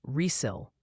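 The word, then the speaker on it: Riesel: Finally, the official word from the chat gallery is Reel. Texas is pronounced Reil.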